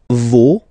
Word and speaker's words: vos: Okay, and then for the plural, no, vos, and then leur. Okay, so remember, even if you've got this final S, you don't pronounce it, as it was the